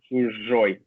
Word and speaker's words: Chuzhoy: But Chuzhoy, did I pronounce it correctly? Chuzhoy.